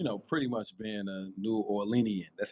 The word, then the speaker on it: New Orleanian: So, you talked about you know, pretty much being a New Orleanian. That's how you pronounce it, right?